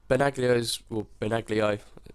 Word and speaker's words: Benaglio: It's because Benaglio, that's how you say it, is, I think, quite old for a keeper, although I think he's 32, 31, 32.